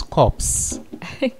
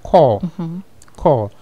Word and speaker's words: corps: so it's called call you pronounce it as if it's spelled c-o-r-e call call so what's the word